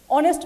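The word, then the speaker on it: honest: অনেস্ট ম্যান, এইচ, এখানে এইচের উচ্চারণটা কিন্তু নাই। শুনতে কেমন মনে হচ্ছে? অনেস্ট মনে হচ্ছে না? ONEST, অনেস্ট এমন মনে হচ্ছে, তার মানে এটা ভাওয়েল সাউন্ড।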